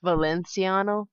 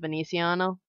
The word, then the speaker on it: Veneziano: Instead of pronouncing the N like an N, it's been like with an L, so it was Valenciano instead of Veneziano.